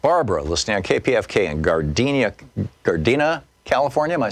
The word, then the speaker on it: Gardena: Barbara, listening on KPFK in Gardena, California.